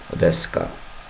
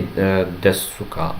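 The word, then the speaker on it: ですか: Deska. Well, you can say desuka, but it will sound like a little bit too formal, too official, too old-fashioned. So you can say so, but like they don't usually say it like that.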